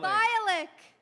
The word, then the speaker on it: Bialik: Oh, it's a K. Oh, Bialik. Bialik, like the band Bioluk.